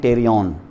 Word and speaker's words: टेरियन: T, starts with P, P silent है इसका, ये आपको पता है ना, पी के आगे अगर कोई वावेल ना हो तो वो साइलेंट हो जाती है। तो ये पी साइलेंट, उसको कहते हैं टेरियन।